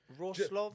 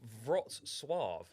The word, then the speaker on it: Wrocław: Pronounced Wrocław. Wrocław, there you go. Wrocław. Not Wrocław. Yeah, No, this is it here. Pronounced Wrocław. Wrocław, yeah. Yeah, Wrocław. Yeah, so it's Wrocław is the Polish pronunciation.